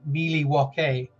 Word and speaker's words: Milwaukee: Cooper and he said it's actually pronounced Miley walkie and I never forgot